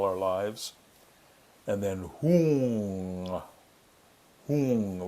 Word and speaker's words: Hung: Hung, like Hoong.